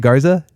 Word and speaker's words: Garza: Is that how you say it, Garza?